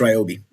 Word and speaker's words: Ryobi: So, like for instance, I don't know, is it Ryobi or Robi? Do you know how to say it? I think it's Ryobi.